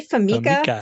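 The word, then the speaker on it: FMECA: So we say FAMICA. So we abbreviate it as FAMICA, but failure modes, effects, and criticality analysis.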